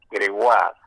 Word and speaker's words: Gregoire: se escribe Gregoire y se pronuncia Gregoire, con acento en la A, Gregoire.